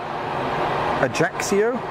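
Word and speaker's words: Ajaccio: You pronounce it Ajaxio. Axio. Ajaxio.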